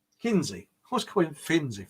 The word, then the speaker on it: Kinsey: What is the similarity between Hancock, Flat Earth bloke, the moon landings, so-called, and Finzi? Hang on, I always get his name wrong. Kinsey.